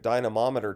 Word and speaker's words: dynamometer: grip dynamometer test uh you will want to practice that word dynamometer it's a fun word uh but sometimes it's easy to mispronounce the word uh Dina Dina meaning moving or dynamic and a moneter or the particularly the meter part of the word meaning to measure uh so we're using